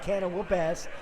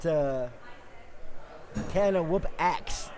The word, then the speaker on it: Can O Whoop Axe: So we're gonna stick with 2 dudes, and we're gonna stick with Can O Whoop Ass, which is Andrew and Mike Moss. We got Can O Whoop Axe not ass.